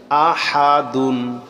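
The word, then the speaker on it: أحد: দাল দুই পেশ দুন আহা দুন আহাদুন থামলে হবে আহাদ আহাদ হবে কেন আরবি পড়ার সময়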